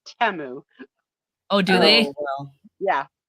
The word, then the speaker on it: Temu: include all 10 dresses sounds like Teo yeah yeah no kidding although they don't pronounce a te they say temu oh do they yeah